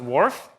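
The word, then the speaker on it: WRF: can be used for climate and it is pronounced wharf and you see in the upper right-hand side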